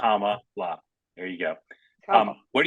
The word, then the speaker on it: Kamala: to respectfully remind you how to pronounce her name comma like comma no comma like Comm La there you go um